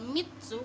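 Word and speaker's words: みっつ: Nah yang ketiga ini mitsu, itu pakai mitsu. Kenapa ditekankan itu karena ada su kecil di belakangnya mi gitu.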